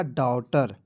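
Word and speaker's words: daughter: जी एच टी आर तो इसमें जी एच को साइलेंट कर लीजिएगा ना जी तो क्या हो जाएगा डॉटर ठीक है डॉटर ठीक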